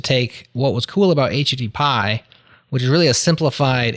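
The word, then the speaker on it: HTTPie: two go back more modern than those is HTT Pi HTTP i e is how you spell it and that's like just a very Stark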